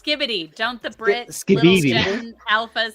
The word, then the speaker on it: Skibidi: it ended up on Speedy toilet I have toe you're saying it wrong it's skibidi don't the brck alpas